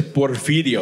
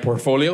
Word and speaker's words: Porfidio: It's cuz a lot of people can't pronounce Porfidio. They call me like Portfolio.